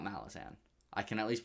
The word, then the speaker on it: Malazan: the question of whether i think malazan not malazan i can at least pronounce this right malazan um malazan yeah malazan